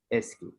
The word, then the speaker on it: ASCII: the original characters uh ascii sk is a code used by most computers for encoding is known as ascii american standard code for information interchange pronounce it sq ascii can understand uppercase